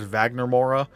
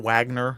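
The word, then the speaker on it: Wagner Moura: case for Vagner and I think you pron pronounce his name as Vagner Mora, not Wagner.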